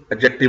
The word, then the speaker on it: adjective: तो किसी भी पर्सन की, किसी चीज की क्वालिटी, उसकी खूबी खामी, वो एडजेक्टिव होता है। तो एडजेक्टिव को प्रोनाउंस करते हैं, इसमें डी साइलेंट होता है, तो इसे प्रोनाउंस करते हैं एडजेक्टिव।